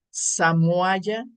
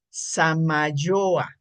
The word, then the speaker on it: Samayoa: Hoy nos acompaña el maestro Samoaya. Perdón, lo pronuncio mal. Samayoa, esa es la pronunciación correcta.